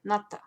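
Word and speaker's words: НАТО: This is NATO, or as the Russians would say, NATO.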